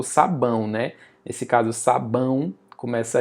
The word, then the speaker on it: sabão: Sabão, é o som do U. É por isso que eu falo: "Levem conta o som. O som do a e i o u. Na semivogal, o som do i e o do u nós vamos chamar de semivogal, mas é som, não é necessariamente letra, porque nesse caso aí sabão, a letra é o, mas o som é u.